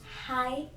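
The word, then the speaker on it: hai: every 12 year corresponds to height. Hi, is that how you say it?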